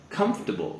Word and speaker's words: comfortable: now this word here actually includes a silent syllable so instead of saying come fortable comfortable we say comfortable so we actually don't say the or so